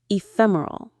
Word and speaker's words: ephemeral: Ephemeral. E fem. Ephemeral. The stress is on that second syllable. Fem ephemeral.